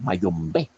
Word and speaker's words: Mayombé: Las sonaredes ombe, mayombe, bombe, mayombe están presentes en los tres vocablos mágicos, pero en el tercero tenemos un acento en la última vocal, Mayombé.